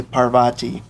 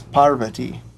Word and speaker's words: Parvati: In the West, people typically say Parvati, but the proper Sanskrit pronunciation is Parvati.